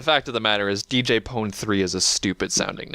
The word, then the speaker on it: DJ Pon-3: yeah but the fact of the matter is DJ pon3 is a stupid sounding it's DJ pony but